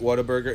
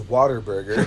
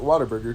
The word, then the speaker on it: Whataburger: also before that moment i thought it was water burger burger because people that's how people pronounce it whataburger whataburger that sounds awful